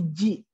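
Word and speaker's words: じ: Jadi bacanya za ji ya, bukan zi ya tapi ji. Za ji. Ingat ya, bukan zi tapi ji.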